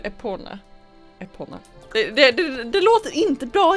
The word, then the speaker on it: Epona: Ja, ett tag så trodde jag att det hette Eponia. Men det heter väl Epona.